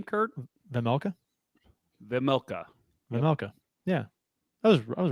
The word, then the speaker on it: Vejmelka: Vejmelka.